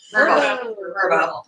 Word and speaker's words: VRBO: Did I say it wrong? Verbo.